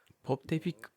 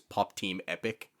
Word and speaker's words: Pop Team Epic: Pop de pic. You don't know Pop de Pipic? I can't even pronounce that.